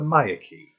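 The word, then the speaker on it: Myreque: in search of the maya key as their apparently pronounced but how i usually pronounce them as myrik but whatever thanks wiki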